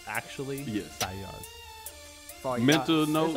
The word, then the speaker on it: Fayyaz: Oh my God, how do you pronounce it? Like actually, Yes. Fayyaz.